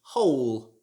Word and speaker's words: whole: so this word should be pronounced whole it should not be pronounced with the w like whole or whole it should just be hole like the word hole on its own that doesn't have a